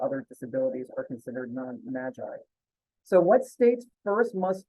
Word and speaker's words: MAGI: a discussion as to how we pronounce that acronym some people call it Maggie some people say Magi I'm gonna say Magi but that basically means